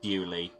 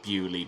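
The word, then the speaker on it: Beaulieu: the French bullia and they've kept the spelling but decided to pronounce it bewley because we're English and we know better apparently I feel like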